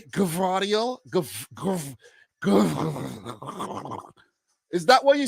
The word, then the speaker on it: Gvardiol: Okay, yes, pronounce G and V, both G and V, Gvardiol. Okay, nice. Nice. I feel good. I think I was getting it right today when I made the video, Gvardiol.